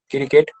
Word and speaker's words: cricket: cricket, cricket, cricket, Stop. Cre nahi hai. It's just cricket. Okay. We won't be adding any more syllable, any more extra sound to your particular word cricket. It just cricket.